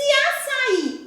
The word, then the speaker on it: açaí: Se açaí, o i está acentuado, eu já vou saber que ele é a sílaba tônica. E se ele é a última, ele vai ser chamado de oxítona.